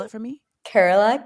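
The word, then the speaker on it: Kerala: Um my I told you that my my family is from Carerala.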